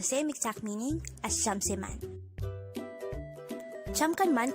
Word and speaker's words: 잠깐만: 잠깐만 could be divided into 3 syllables. 잠깐만. Jam is formed from the combination of the sounds of jiut, a, and miyam. Kan is formed from the combination of the sounds of sangkiyok, a, and niyon.